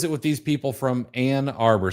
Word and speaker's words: Ann Arbor: So what is it with these people from Ann Arbor? So it's not Ant Arbor, it's Ann, A-N-N Arbor.